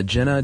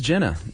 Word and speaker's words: Gina: Uh we got something from uh Jenna Dalmas, and Jenna was on the coed trip go with Jerry. Is it Gina? It is Gina.